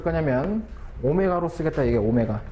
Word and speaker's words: 오메가: 자, 각 주파수는 우리가 뭐를 쓸 거냐면 오메가로 쓰겠다 이게 오메가. W가 아니라 얘를 오메가라고 읽어주면 오메가.